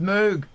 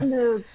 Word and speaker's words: Moog: has for our inputs it's pronounced Moog Mark if you call it move and people at music